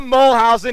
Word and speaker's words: Moolhuzien: you please say your last name mulholland Peter mole housen he's the man he is the boss Springsteen